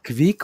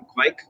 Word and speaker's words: Kveik: hizo una cerveza con Kvik. Del cómo se dice, aparentemente incluso hay variaciones dentro de Noruega. Yo busqué en unos videos, vi que se pronunciaba como Kvik, pero bueno, es nadie, no hay ningún especialista por ahí.